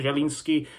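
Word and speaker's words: Zieliński: mean you know uh Pietro jelinski you know he Pioche jelinsky you know that's how you say his name in Polish obviously I'm happy for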